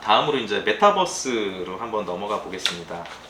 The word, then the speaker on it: 메타버스: 그러니까 우리가 BUS라고 하는 버스하고는 이제 좀 전혀 다른 그 발음인 거죠. 그래서 밑에 보시면 이 메타버스라는 단어는 가상, 초월 등을 뜻하는 이제 영어 단어 메타하고 우주를 뜻하는 유니버스의 이제 합성어라고 합니다.